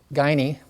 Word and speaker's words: Guiney: And then our special guest today is Michelle Lee Guiney. Did I pronounce that correctly?